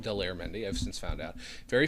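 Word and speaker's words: Daler Mehndi: There was this Indian gentleman named Dollar Mendy who did uh it's actually pronounced Delair Mendy.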